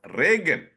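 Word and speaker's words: Reagan: became Jo again the spelling is r e a g it is pronounced rean not Regan the other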